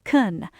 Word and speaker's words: can: So do gets the stress and can gets reduced to awah. It sounds like can.